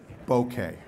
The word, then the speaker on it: bokeh: because I want the 1.8 bokeh that word's pronounced bokeh Boca is a city in Florida bouquet rhymes with